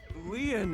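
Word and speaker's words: Lien: I choke slam him my name lean is spelled l i e en in French lean means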